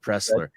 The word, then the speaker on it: Presler: his uh page the guy's name is Pressler there was an l and I didn't pronounce the L in it Scott presler but what it's um